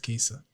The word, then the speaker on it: Kaesa: said your name is qua yeah what's that quesa how do you spell it's spell k a s e yeah what